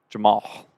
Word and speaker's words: Jamahl: And then Jamal Mosley, but it's spelled Jamahl. Jamal.